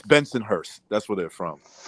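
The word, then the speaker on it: Bensonhurst: was from uh uh Benson hoist that's how they say it Benson hoist it's Benson Hurst that's where they're from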